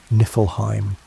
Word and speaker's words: Niflheim: To the north of this void lay Niflheim, pronounced Niflheim, the realm of ice and mist.